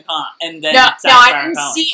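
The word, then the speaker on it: comte: set up before the comp is going to, like, do any business with him. Okay, done. Then we – I don't think you need to pronounce the T.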